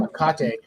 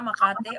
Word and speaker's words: Makati: saying is Makate. I guess that's how you say it. Ah, Makati.